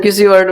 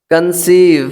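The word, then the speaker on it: conceive: Next friends ई के बाद जब किसी वर्ड में ई आई आए तो ई आई का उच्चारण बड़ी से करते हैं, पढ़ते हैं। जैसे रिसीव, क्या? रिसीव, कंसीव, सी ओ एन सी ई आई बी, कंसीव। ऐसे डिसीव, ये सारे वर्ड्स देखिए किस तरह से बड़े ई का उच्चारण लेते हैं। यानी जब ई के बाद आई हो तो वहां बड़े ई का उच्चारण होता है, ठीक है।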